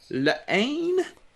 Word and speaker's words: La Haine: film this week is lane i think it i don't think you pronounce the h kia told me that he said you don't pronounce the h it's i don't know